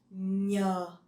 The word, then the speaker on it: nhờ: The NH in Vietnamese, you pronounce nhờ, nhờ. So it's not like the N in English, okay?